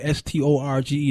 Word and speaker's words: storge: It's agape, it's phileo, it's storge, actually, S-T-O-R-G-E, that's pronounced storge, and eros.